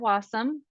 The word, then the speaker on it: Wassum: this came from art wassum which rhymes with awesome we now know that